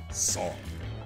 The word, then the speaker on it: Sonne: It's a SONNE54, and he was saying, like, the start of his name is pronounced the same way as Sauna. Son.